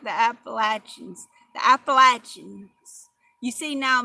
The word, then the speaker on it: Appalachia: And I heard another girl saying, you know, who's from that area, that you say it like apple. Appalachia.